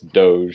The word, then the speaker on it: Doge: I don't know how to pronounce anything. It's the one thing I know as a Zoomer is that it's Doge.